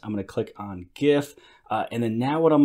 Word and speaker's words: GIF: here now you know I don't call it Geoff just because it is no gif it's an acronym standing for graphic interface format and so G hard G graphic so this is a gif now let's head over